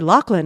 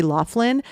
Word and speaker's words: Loughlin: By the way, I know a lot of people say Lori Loughlin, but on her IMDb page in the trivia section, it says that it is pronounced Loughlin.